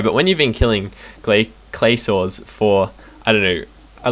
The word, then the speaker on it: Glacor: Also, I'm trying to get the pronunciation right this episode, for instead of Glacors, it meant to be clay saws.